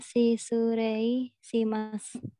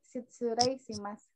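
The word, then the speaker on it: 失礼します: Dibacanya si Surei Shimasu. Hai, Shitsurei Shimasu.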